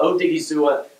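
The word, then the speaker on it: Odighizuwa: months to get that rightt credit for the pronunciation thank you uh odiga this is a guy 63 267 ran a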